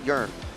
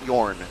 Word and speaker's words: Jörn: His name is pronounced Jörn, not Jorn, as, well, I've been calling him for years, unfortunately.